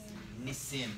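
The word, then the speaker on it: נסים: in the singular in the plural it is Nissim that is correct I had a friend of my class actually still a friend of mine I've seen him in many years though whose last name was Nissim and his first name was Nissim oh yeah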